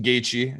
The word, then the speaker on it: Gaethje: Justin Gaethje, said it right that time.